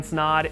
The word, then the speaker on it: Snod: guys my name is snod it rhymes with odd helping you grow your